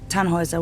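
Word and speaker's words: Tannhäuser: why what's your name tanhauser we'd pronounce it tanhoisa with an umlaut German roots yes my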